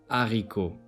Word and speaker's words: haricot: Letter H is always silent in French. Example: Haricot, hiver.